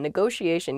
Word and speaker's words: negotiation: word is negotiation negotiation yeah there are two t's in this but neither t is a hard t they're both very soft that sh sound because they're followed by the i and another vowel that she a negotiation